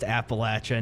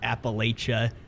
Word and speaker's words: Appalachia: Tell her it's pronounced Appalachia, not Appalachia. Let's just go ahead and do that.